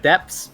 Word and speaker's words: depths: No, she said depths, but it is pronounced correct exactly like debts.